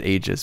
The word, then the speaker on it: Aegis: time the Eis Gundam I always pronounce it Aegis but the the dub says egis is it you're a history person how do you say egis at this point I think it's just your preference yeah okay egis AIS